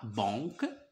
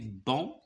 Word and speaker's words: banc: jardin alors c'est une se prononce pas sur un bon on dit pas Bank mais bon de jardin bravo dit la maîtresse